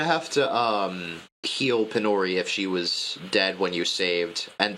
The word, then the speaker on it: PyNori: The the character is pronounced Penori, but the the the game is Pori cuz Python idiot.